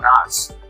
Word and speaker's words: Knox: The interesting thing about Fort Knox is that the K is silent.